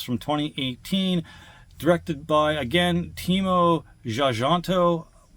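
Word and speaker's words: Timo Tjahjanto: 2018 directed by again teimo zanto my apologies if I'm not pronouncing that but that song I'm going to pronounce it teimo xanto e in this is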